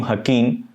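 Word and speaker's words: Joaquín: Firstly, now no one can become a kingpin like Joaquin Guzman Laura. Keep in mind, the name Joaquin has the Mexican J and hence for some cases pronounced as English H.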